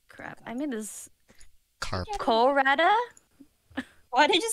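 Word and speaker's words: コラッタ: Colrata, and then like a little ts, and then ta. Like there's two t's.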